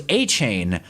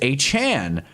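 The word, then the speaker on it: Achane: came in the league, everyone thought it was Achain and then he came out and told everyone that it was actually pronounced Achan."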